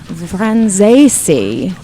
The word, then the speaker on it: Franzese: friend Daman in meon girls he is Daniel vesi now did I get that right yes okay we're all good then on the pronunciation there's also some other dude here called